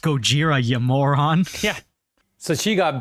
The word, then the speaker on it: Gojira: like the little gag where she says it's pronounced Gojira yoron yeah so she got backstabbed realizes her